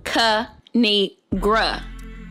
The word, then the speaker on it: Kinigra: me tell y'all a thing of three it's pronounced kanigra now subscribe oh I crack myself up thanks